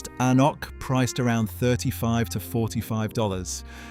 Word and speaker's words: anCnoc: Number 12, anCnoc 12, pronounced An-nock, priced around $35 to $45.